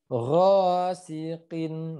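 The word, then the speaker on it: غاسق: Ghasiqin. Nah, ketemu huruf qaf ya. Qaf juga harus sesuai makroznya. Kalau qaf salah makroznya, dia bakal nyasar ke huruf K. Jadi ghasiqin gitu ya.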